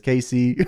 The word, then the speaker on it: Case: It's actually pronounced as Casey, but it's all good.